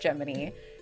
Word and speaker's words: Gemini: Geminy. His name is spelled Gemini, but it's pronounced Geminy.